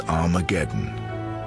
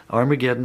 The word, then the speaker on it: Armageddon: Testament written in Greek Armageddon has an aspirant at the beginning meaning it's pronounced with an H so it originally was